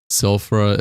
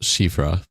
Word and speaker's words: Shifra: Sulfra is pronounced Shifra. Oh. Oh, Shifra.